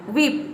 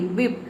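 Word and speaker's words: whip: अगला है वाई, विप, ये है विप, डब्ल्यू एच आई पी, विप, विप means होता है कोड़ा या फिर चाबुक।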